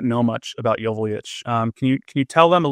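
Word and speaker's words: Joveljić: And then at the start of last season, he said, my last name is pronounced Joveljic.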